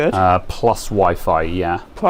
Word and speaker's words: Wi-Fi: Oh, I had a customer not long ago who was unironically calling it whiffy. Um, and like I tried to sort of subtly correct them by by saying sort of like the Wi-Fi sort of like wink wink nunch.